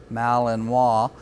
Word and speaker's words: Malinois: this breeds name is often mispronounced it's French breed Malinois but today we're going